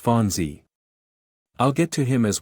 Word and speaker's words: Fonzie: Pronounced Fonzie.